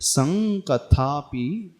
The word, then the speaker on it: संकथापि: त्वत् संकथापि ऐसा पढ़ेंगे इसको। सन नहीं पढ़ेंगे, सम भी नहीं पढ़ेंगे, संकथापि।